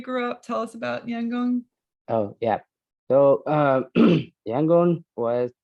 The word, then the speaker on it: Yangon: You grew up in the capital city of Myanmar, now known as Yangon. Did I pronounce that correctly?